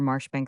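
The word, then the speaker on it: Marjoribanks: His name and style being the honorable Kirkidbright Lenover Margerabank sellers Vikount Berkeley of Kandelli Castle Warikshire pronounced Kubri th Lenover Marshbank sellers Vikount Barkley of Chumley Castle Warikshire.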